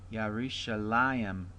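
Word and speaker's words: יְרוּשָׁלַיִם: And similarly, the next word is Yerushalayim. There's the diphthong right there. Let me say that again. Yerushalayim. There's the accent over the lamed there.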